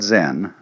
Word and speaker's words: Zen: So then, this word Zen is Japanese way of pronouncing the Chinese word Chan, which in turn is the Chinese way of pronouncing the Sanskrit word jhana.